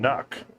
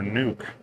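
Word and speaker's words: NUC: leaning towards the Intel Nook or nuke or however you want to pronounce it then you see next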